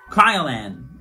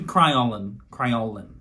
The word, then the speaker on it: Kryolan: Kryolan, but it's meant to be Kryolan.